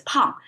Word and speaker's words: 胖: So 心宽体盘, pronounced as pan, but individually it pronounced as pang.